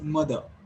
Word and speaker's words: mother: So here you should not pronounce r sound clearly. So it is mother, not r. You should not pronounce mother.